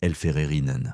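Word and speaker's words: Helferinnen: Parmi eux, plusieurs milliers de femmes auxiliaires de la Vertmart surnommées les elférerines prononcé elfererinen.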